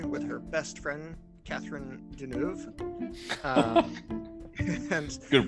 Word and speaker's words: Deneuve: She works in a factory with her best friend, Catherine Deneuve. And Good pronunciation.